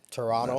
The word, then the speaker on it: Toronto: No, you can't say Pronouncing the T, yeah. It's like yeah. folks who say Atlanta. Toronto. I'm like, you're not from me. The T is like Silent. silent.